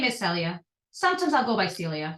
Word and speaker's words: Celia: am in America but for some reason everyone called me Cecilia I don't understand why they're adding an extra syllable to my name it makes it harder